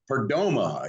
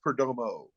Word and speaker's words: Perdomo: pink man to uh be welcoming uh Fernando perdoma is that that's the correct uh uh pronunciation is it not uh oh so it's Perdomo for Domo okay well I have been uh